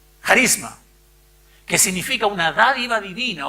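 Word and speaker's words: χάρισμα: primero de corintios 17 viene del griego del griego que se pronuncia carisma que significa una dádiva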